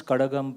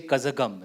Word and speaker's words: Karagam: That's why I'm one of the few North Indians who can pronounce Karagam properly. Uh any Tamilians here? And you would have seen north Indians who say kazakum right but you can't blame them it's written that way in the Roman script uh blame us